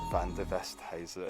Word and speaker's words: Van Der Westhuysen: Welcome to Hollyrood Park on a very, very sunny and hot day, and I'm here with Hannah Van Der Westhuysen. Stunning pronunciation.